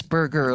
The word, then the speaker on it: Berger: It's burger, like a hamburger.